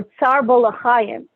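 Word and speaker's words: Tza'ar Ba'alei Chayim: is the violation of Tsar Ba'alei Chaim, or Tsar Bolachayim, the way it's pronounced in some circles.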